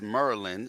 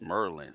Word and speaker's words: Maryland: Just remember it's Maryland. It's not Maryland. Jeez, where are you from, man? The lack of education out there is just terrible. It's Merlin. Baltimore, Merlin. Say it right.